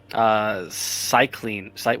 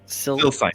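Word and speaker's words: Sylcyne: Cycline. What is it? Silsine.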